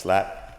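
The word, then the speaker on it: SILAP: succeeding in life after the acronym is spelled s i l a p but it's pronounced slap I'm on all the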